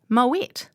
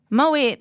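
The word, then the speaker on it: Moët: Now, then she reaches for the wine and he's like, oh, Moet. And she corrects him and says, oh, no, Moe. But actually, Moet is the correct pronunciation.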